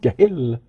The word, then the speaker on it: Gil: I don't even know how to say his name, Gil Kenan. Right. I was going to say Jill, but I don't think that would be correct.